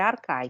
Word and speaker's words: Archai: Se escreve Archai, tá? Mas é Arcai que se lê, tá? Porque o CH de Arqué, né, se lê como K, né?